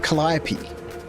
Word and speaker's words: Calliope: It is pronounced Calliope, but I call it Calliope.